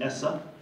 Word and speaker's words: ESSA: And we like to say it's ESSA, but pronounce it ESSA.